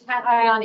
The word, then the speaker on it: cation: It's cation exchange capacity.